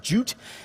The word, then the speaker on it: JWT: stands for right now and i think it's pronounced jute and with jwt you have to store things